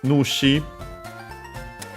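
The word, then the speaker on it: 主: Uh and also we have uh the term yadushi uh yado once more the dwelling uh from lodging uh nushi accent on the first mor on his own means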